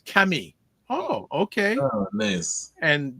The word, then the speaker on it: Camille: promotions and she says Camille is a unisex name and it's French so French pronunciation is Cami oh okay oh nice